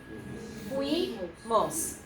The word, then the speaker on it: fuimos: It's we, so we have fuimos. Fuimos. Okay, repitan. Fuimos. It's a diphthong. Pronounce it as 1 syllable and then 1 syllable.